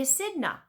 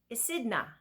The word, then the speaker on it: echidna: And the name of this animal, I'm going to double check, is called the echidna. Echidna, okay? And it's like this. Echidna. So it's 3 syllables.